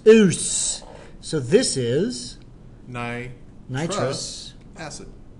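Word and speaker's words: -ous: Not us, US, but O-U-S. it's spelled O-U-S. Oos.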